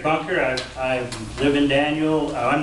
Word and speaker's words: Daniel: my name is i've lived in daniels for 34 years daniel if you want to pronounce that i've been here so long at